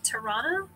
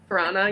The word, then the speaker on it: Tarana: then what's his name it's tarana you want to say piranha yeah pronunciation so tarana i